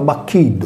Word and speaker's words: Bacchiddu: Le bâton des 12 licteurs était aussi appelé Baccillum, prononcé Bacchiddu avec le double cacuminal /ll/, comme le patronyme sarde du même nom.